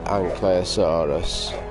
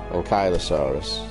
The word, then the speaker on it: ankylosaurus: to look at a Stegosaurus and the uh anaus ankylosaurus sorry recent pronunciation corruption that I learned by playing the